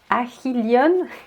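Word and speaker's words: Achilleion: Achilleon. En fait, c'est H ou H, ça se prononce H.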